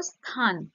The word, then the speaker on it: স্থান: তো স্থান, স্থান, স্থানটাকে যদি আমরা ভাঙি কি আসবে, দন্তের স যুক্ত থ যুক্ত আ যুক্ত দন্তান্ন, স্থান।